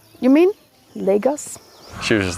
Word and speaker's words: Lagos: We pronounce it Lagos.